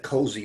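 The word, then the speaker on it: COSI: in choosing acronym but I like that cozy rolls off the tongue easily it's easy to say OC or yeah is also it's sort of nice to be able to just say the acronym pronounce it rather than uh each individual letter right right yeah um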